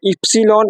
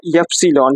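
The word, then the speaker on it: Ypsilon: वाई को हम लोग वाई बोलते हैं, लेकिन जर्मन के लोग जो है इसको बोलते हैं इप्सिलॉन या यप्सिलॉन, ठीक है।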